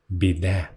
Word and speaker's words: біде: була річ сороміцька і називалася вона біде з наголосом на кінці переважна більшість класу навіть